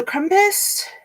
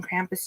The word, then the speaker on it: Krampus: into it then so compass or krampus apparently everybody's been saying krampus today so there's a possibility i've been mispronouncing it is a christmas cryptid